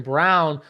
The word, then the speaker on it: Braun: Did I say his name correctly? Yeah. Oh, okay. Okay, good. They still say it wrong on TV. It drives me nuts. Braun. I've been saying Braun forever.